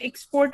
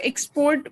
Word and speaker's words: export: verb, so like here, export is noun, right? It's because stress pattern was asked. So, export would be considered as noun. So, the first syllable would be stressed.